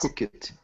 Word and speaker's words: hooked: Hooked. Hooked. Okay, so hooked, Wellington, is a bit of a tricky word. It's actually just one syllable, and the ED sounds like a T, so it's hooked.